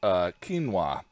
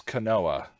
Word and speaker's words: quinoa: It should be K-E-E-N-W-A-H-H-H. But it's spelled like quinoa.